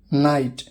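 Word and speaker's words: know: के, जब एन से पहले के आता है तो वो के साइलेंट होता है, अक्सर शुरुआत में होता है।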